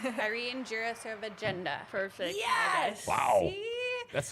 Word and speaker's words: Jirasevijinda: ready Irene we're gonna say it right Irene jira serve agenda perfect yes wow that's like a whole alphabet